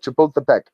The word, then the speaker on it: Chapultepec: The day honors heroes of the 1847 Battle of Chapultepec.